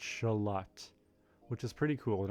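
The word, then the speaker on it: Xolotl: going to happen so I prepared this is shalot is how you say it let me mute the music for a second and bring up pronunciation on Google shalot shalot shalot let it's like a not like Lut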